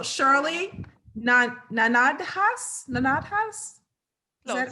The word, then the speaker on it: Gnanadhas: na na nada haas nanathas is that right i'll go with that no now how do you say it uh it's and yeah okay not not at us okay all right that's